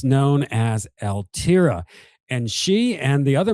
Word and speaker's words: ALTIRA: This is the band ALTIRA. Did I pronounce that correctly?